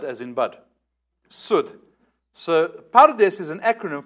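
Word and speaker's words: סוד: And the fourth, pronounced Sud, as in wood. Not Sud, as in bud. Sud.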